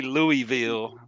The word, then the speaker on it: Louisville: At least you say Louisville, right? You don't say Louisville. Yeah, no. That's not how you say it? That's what I'm talking about. No, it's Louisville. Yeah, you got to roll it. Say it with your chest. Sorry. It's like knowledge.